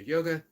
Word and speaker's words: yoga: So It would be, instead of yoga, it would be yog.